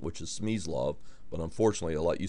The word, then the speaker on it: Smyslov: his name the way it's supposed to be pronounced which is SME law but unfortunately a lot you say SME love and a lot of players in the US